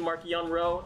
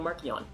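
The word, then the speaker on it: Marchion: on whom you ask markian rowe has always been mark yonro amongst the project luminous authors who discussed the issue extensively before deciding on marcion during those conversations the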